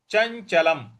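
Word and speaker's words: चञ्चलम्: चंचलम ही मन कृष्ण चंचलम चंचलम देखिए च के बाद ञ है यहां पे चंचलम ल के ऊपर पर जो अनुस्वार है उसका उच्चारण हमें म ले आना है।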